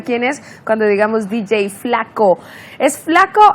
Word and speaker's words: Fla-K.O.: es cuando digamos Dj flaco es flaco o K eh se escribe Así es flaco se pronuncia Flaco pero se escribe